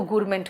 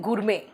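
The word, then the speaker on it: gourmet: हो उसको कहते हैं गुरमे। बेटा टी साइलेंट है। गुरमेट नहीं गुरमे।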